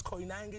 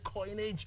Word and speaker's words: Koinange: you know Larry forgot your name he can't pronounce coin Ang coinage yeah but can you come back tomorrow can